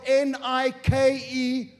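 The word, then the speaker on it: νίκη: in the original translation is the word nikkei it's spelled n-i-k-e it means we pronounce it nike and you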